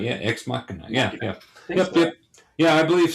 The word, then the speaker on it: Ex Machina: Yeah, Ex Machina.